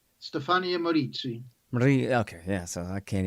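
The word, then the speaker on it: Stefania Maurizi: important story here uh stefania marie marizzi right something like that help me out say it right for me stefaniya moritzi okay yeah so i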